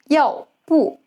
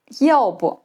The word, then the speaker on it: 要不: Petite précision sur la prononciation : le « 不 » dans « 要不 » se prononce sur un ton neutre. Ce n'est pas « yào bù », mais « yào bu ».